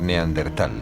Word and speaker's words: Neandertal: A lo largo de los años el nombre se escribió y pronunció de diversas maneras, en razón de su origen alemán, si bien hoy en día se tiende a aceptar Neandertal, prescindiendo de la H que seguía a la T.